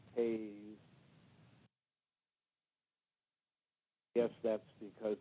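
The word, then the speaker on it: Toews: His last name is written T-O-E-S, T-O-E-W-E-S, toes. But in fact, they insist it should be pronounced Taze.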